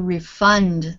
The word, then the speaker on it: refund: noun and a verb if you are talking about a verb I'm going to refund the money then the stress is on the last part of the word so uh um refund you want a refund the refund is a noun oh okay so the